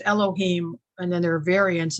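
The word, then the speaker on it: אלוהים: um other thing about the word god which is pronounced Elohim and then there are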